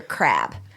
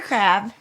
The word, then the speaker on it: Crabbe: than the legendary Buster Crabbe. Just kidding. Nobody knows who that is. Do you? No. Okay. No. Spelled like a regular crab? Nope. C-R-A-B. Like a French crab. Buster Crabbe, C-R-A-B-B-E, played Billy the